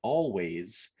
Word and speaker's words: Alvvays: release from the band always spelt with two v's um i and and